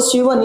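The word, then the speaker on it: Schwann: तो इसका मतलब एस सी एच हम लोग साइलेंट पढ़ेंगे। थोड़ा इनका नाम जो है ऐसे ही होता है। तो शिवन यानी कि थडो शिवन ने 1838 में इन्होंने किया था।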